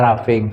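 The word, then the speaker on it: roughing: ya tapi kita apa tulisannya roging tapi kita membacanya raffing gitu ya ini berarti pembubutan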